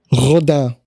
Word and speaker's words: Rodin: To me, it's Rodin, but Cal, how would you pronounce it? Rodin.